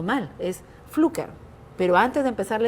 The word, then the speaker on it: Pflücker: Para muchos conocedores del tema cultural e historia aquí en Lambayeque, me van a decir, estás pronunciando mal, es Pflücker.